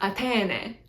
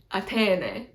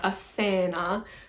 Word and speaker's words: Athene: Athena is spelled a couple of different ways, but I think Homer uses an eta at the end instead of an alpha, I think. So it's Athene, Athene. You can also say Athena is the alternate way to spell it.